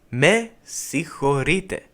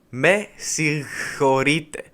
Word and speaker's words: Με συγχωρείτε: This one is a little tricky to pronounce since the g in the word is not really pronounced. As if you were to say it properly, you would get something like this. Με συγχωρείτε, which doesn't sound the best. For that reason, we keep it mostly silent, but everything else is pronounced normally. So the proper pronunciation would be με συγχωρείτε.